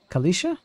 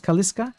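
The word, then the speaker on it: Calisca: kills endurance Kalisha Kalisha not kaliska Kalisha your wooden clothing and lock picks okay he's pronounced like Kalisha really not kaliska oh is it is it an e not a c no it is a c Kalisha okay good to know Kalisha anyone needs supplies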